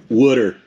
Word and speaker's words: water: out again dirty what water a water this time water water he's from Philly so wooder that's how they say it and what do you